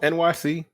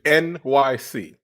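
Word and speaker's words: Enyce: Niggas wearing Eniche sweater vests at a pickup game, Apparently that's pronounced NYC. Yes. How did you guys not know that? What? We talked about this. Yes. We did. Yes, it's pronounced Eniche is NYC.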